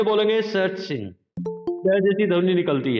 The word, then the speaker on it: सचिन: लेकिन अगर कोई अंग्रेज कमेंटेटर उनके नाम का उच्चारण करेगा, वो बोलेगा, ध्यान से सुनना, सचिन, सचिन। सुनाई दिया आपको? आशा सुनाई दिया? यानी कि ट और 21 वाली जो श होती है, दोनों की मिली जुली ध्वनि आती है इसमें, च में।